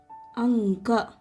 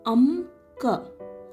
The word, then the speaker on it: ಅಂಕ: Anka, anga. See here, since we have here, while reading how this makes a sound, we will not read it as amka. Okay, this is anka.